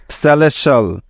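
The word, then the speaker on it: celestial: যেমন টি আই এ এল একত্রে মিলে সবসময়ই শল শল এর মতো সাউন্ড দিয়ে থাকে। কেমন? তাহলে এই শব্দটির সঠিক উচ্চারণ হবে সিই সে, এল ই এস লেস এবং টি আই এ L shall, সেলেশাল।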